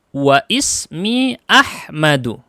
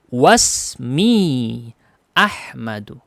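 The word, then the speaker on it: وَاسْمِي أَحْمَدُ: Wasmi Ahmadu. Tidak dibaca wa ismi, tapi dibacanya gimana? Wasmi Ahmadu.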